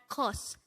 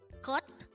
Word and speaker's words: 것: It sounds like T. So it's not kos, it's kot.